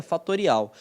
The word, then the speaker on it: factorial: se escreve factorial, mas se pronuncia fatorial.